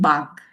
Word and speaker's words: Bach: Some people call it Bach. That's also okay. That's a German pronunciation, but we call it Bach.